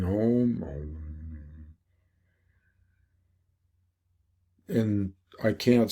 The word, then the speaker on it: Om: And the most basic mantra is Om, O-M, Om, or it can be pronounced A-U-M or Aum, Aum, or Om.